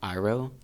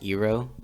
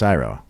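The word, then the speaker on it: Iroh: 's name wrong but I'm pretty sure it was iro I think they said EO yeah they said Uncle iro is it iro or oo it's iro it's iro like the actual and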